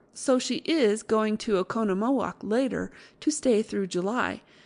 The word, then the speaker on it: Oconomowoc: Accent on second syllable. The only trouble is when you write it. You never know where to stop. Well, so she is going to Oconomowoc later to stay through July.